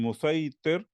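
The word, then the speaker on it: مصيطر: And then musaitir, and then it says also written as musai with a swad, but pronounced with a sin, one who controls or a controller.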